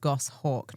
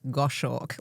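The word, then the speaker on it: goshawk: Please be aware that gosh hawk is pronounced gosh hawk, not gosh hawk like I assumed when I first read it.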